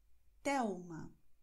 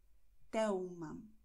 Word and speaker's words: Telma: L am Wortende oder L am Ende der Silbe vor Konsonant wird wie U ausgesprochen. Das heißt Miguel Thelma. Miguel Thelma.